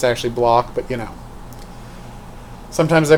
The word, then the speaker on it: Bloch: Psycho by Robert Bloch. I know it's actually Bloch, but you know. Sometimes I pronounce things the German way, for no particular reason.